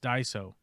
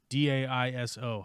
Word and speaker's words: Daiso: In Japanese it is said as Daiso.